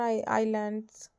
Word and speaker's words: आइलैंड्स: For example today उदाहरण के लिए आज most of people living in Andaman आइलैंड्स। यह इज़लैंड्स नहीं होता है स्टूडेंट्स। ये आइलैंड्स होता है। इसमें इज़ एस साइलेंट होता है।